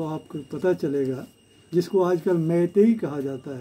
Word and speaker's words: Meitei: अगर इसमें से आर साइलेंट हो जाए, आर अगर निकल जाए तो ये बन जाता है मैतेई।